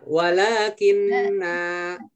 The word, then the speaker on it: walakinna: Lakinna. Hati-hati nanya dibaca pendek. Ya, walakinna. Hati-hati nanya dibaca panjang. Nah, tetap dibaca panjang ya.